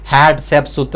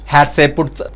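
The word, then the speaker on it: Hatshepsut: ಅವಳು ಯಾರಪ್ಪ ಅಂದ್ರೆ ಹ್ಯಾಪ್ ಸೆತ್ ಸುತ್ ಅಂತ ಹೇಳಿಬಿಟ್ಟು ಕೆಲವರು ಬೇರೆ ಬೇರೆಯಾಗಿ ಉಚ್ಚಾರಣೆ ಮಾಡ್ತಾರೆ. ಹ್ಯಾಡ್ ಸೆಪ್ ಸುತ್ ಅಂತಲೂ ಮಾಡ್ತಾರೆ, ಹ್ಯಾಡ್ ಸೆಪುಟ್ ಅಂತಲೂ ಕೂಡ ಮಾಡ್ತಾರೆ.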